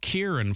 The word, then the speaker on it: Kieran: An email to foreign colleagues said it's pronounced Kier, but if you think it's too complicated to pronounce, it wouldn't be a problem for us to let it go.